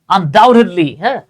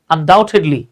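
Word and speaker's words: undoubtedly: দুইবার আসছে সার্টেনলি নিশ্চিতভাবেই আনডাউটেডলি এই দেখেন এখানে বি কিন্তু সাইলেন্ট থাকবে আনডাউটেডলি এই শব্দগুলো আমরা ব্যবহার করব আচ্ছা যেমন দেখেন জোর দিয়ে বলতেছি I love sleeping with my fate cat.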